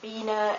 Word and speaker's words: Biene: Yeah, I thought I told you, but an I that is followed by an E is always pronounced as a long E, as a long I, E. For example, Biene and Stiefel, which means bee and boot.